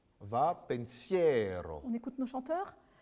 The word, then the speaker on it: Va, pensiero: petit peu oui alors pour l'italien ce qui est important c'est d'avoir l'accent tonique d'accord va foncière va pensiero une écoute nos chanteurs